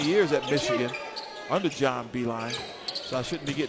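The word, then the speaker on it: Beilein: staff for many years at Michigan under John Beeline. So I shouldn't be getting his name wrong, right? John. But yeah, John Beeline.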